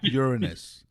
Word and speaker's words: Uranus: It's pronounced Uranus.